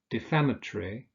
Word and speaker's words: defamatory: Now, with those adjectives that have 4 syllables, that consist of 4 syllables, we usually stress the second syllable. So we say respiratory, conciliatory, defamatory, explanatory.